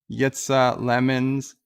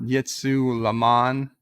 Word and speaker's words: Yitsa Lemons: Yitsa Lemons, not Yitsu Laman, or any of the other creative.